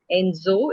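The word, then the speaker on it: Ensō: Enzo, it is said Enzo, but it is spelled as Nenso.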